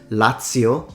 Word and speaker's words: Lazio: give you two examples Lazio The Zed is pronounced as at because it comes from Latin TI pranzo The Zed is